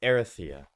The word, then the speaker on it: Erythea: And I also think I mispronounced Erythea wrong. It's Erythea. Right?